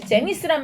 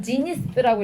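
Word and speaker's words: zenith: 제니스 여자 이름 했던 제이를 쓰죠. J-E-N-I-S 이렇게 쓰는데 그게 아니라 지니스라고 읽고요.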